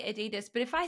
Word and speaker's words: Adidas: my gosh add addas Adidas not aidis it's not an e or a double e it's an i between the D's it's like a did